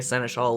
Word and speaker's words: seneschal: Reginald Seneschal. probably fall under that. Yeah. How do you say that word? Does anyone know? Seneschal. Seneschal.